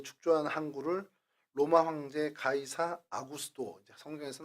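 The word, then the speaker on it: Augustus: 축조한 한를 로마황제 가이사 아구스도 성에서 아구스도 아고 하는데 아우구스투스 그 로마 발음으로 하면 어 여러분이 잘 알고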